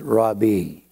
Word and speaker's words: Rabbi: whatever you want to say it's more commonly Rabbi is used more common than anything we call it Rabbi really the correct pronunciation is rabi but since no one says that I'm not